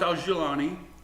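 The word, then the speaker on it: al-Jolani: But you will, it's pronounced Al-Jilani, was born in Saudi Arabia, but to Syrian parents.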